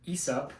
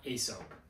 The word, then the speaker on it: Aesop: This is from Aesop, and yes, it is pronounced Aesop, not Aesop, okay?